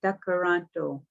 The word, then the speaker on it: Tkaronto: Tkaronto, it's a D, not a T. Tkaronto.